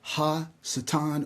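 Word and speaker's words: השטן: In Cabala, Satan is re actually pronounced Satan. It's always preceded by the definite article ha. So it's ha satan which means the satan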